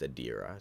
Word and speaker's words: Adira: Adira Kessler just wanted to mention that his name is pronounced Adira, so I'll remember that for next time.